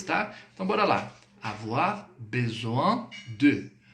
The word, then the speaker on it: besoin: Avoir besoin de. Besoin. Outra dica. Quando você deparar dentro de uma palavra esse IN, o IN no francês ele tem som de an, tá?